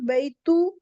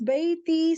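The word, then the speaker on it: بيتي: It's not baytu and ja. We can't pronounce because with two, I can't pronounce the ya. So it's bayti.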